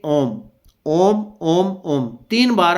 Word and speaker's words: ओम: तो निकल जाएगा नहीं ओम को जो उच्चारण करना है उसका भी तरीका होगा ऐसा नहीं करना ओम अम अम अम जो म है उसका छोटा नहीं करना बराबर तीनों को एक ही ओम ओम ओम इसी क्रम